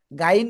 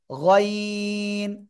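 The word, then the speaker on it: غ: এই অক্ষরটা গলার শেষ ভাগ থেকে এই অক্ষরটা উচ্চারণ করবো একটু মোটা আওয়াজে গাইন বলবো না এটা হবে গাইন গাইন জোরে জোরে গাইন মাশাল্লাহ এরপর আমরা এই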